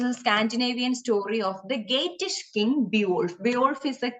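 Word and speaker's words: Geatish: story this is a scandinavian story of the gatish king beowulf beowulf is a king okay bjorph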